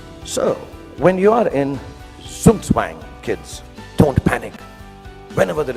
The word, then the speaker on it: Zugzwang: Then there's what they call, I don't know how to pronounce it, but sounds very cool, the Zugzwang. The Zugzwang, yeah. It's a really cool word. It sounds like a Chinese aphrodisiac. Zugzwang.